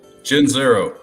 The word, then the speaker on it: Gianzero: Jenzero.